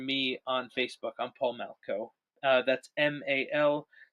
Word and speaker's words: Malchow: I'm Paul Malco. That's MALCHOW. All the extra letters are there to confuse you because it's pronounced Malco.